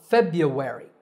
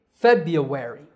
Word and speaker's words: February: The first R is silent, so February. Feb-ya-we-ri. February.